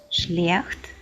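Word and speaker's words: schlecht: Буквосполучення SCH дає нам звук Ш. Шлехт, Шварц.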